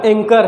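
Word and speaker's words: anchor: पहला देखते हैं फर्स्ट आपका एंकर है दिस लेटर इस silent in this word and second इस आर्किटेक्ट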